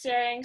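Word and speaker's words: Tsering: It's Sering, so it's a silent T, and thank you, Neil, for sharing all the insights.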